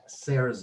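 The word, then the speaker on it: cierzo: all the wind in Borja is called the sayers o CI e RZ o or if you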